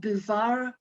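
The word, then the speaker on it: Bouvard: um which was published posthumously it is called bouvar and pekushay and it's about two i can spell that b-o-u-v-a-r-d and p-e-c-u-c-h-e-t these are two clerks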